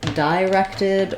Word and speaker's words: directed: time but for now in the dictionary we have the I sound and you should go for that for the correct pronunciation of this word um so that's because